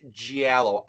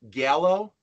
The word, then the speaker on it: giallo: I'm pretty sure it's Giallo. I always pronounced it Gallo, but. Okay. I'm 99% sure that it's Giallo. Okay. Where we would as Americans pronounce the like soft G of G, it's actually the hard G of J, Giallo.